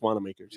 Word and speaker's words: Wanamakers: yeah yeah no if if the owner says wanamakers that's wanna makers yeah exactly he said